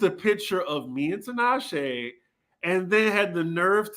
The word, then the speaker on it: Tinashe: I finally am enjoying the necklace wonder Tanisha. Tinashe. Okay. You You know mean what, that Tinashe? She has earned proper pronunciation for me.